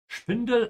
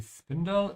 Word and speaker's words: Spindel: Spindel auf Geschwindigkeit Spindel again here. They look very similar, but they are pronounced differently. In English we say spindle, in German spindel.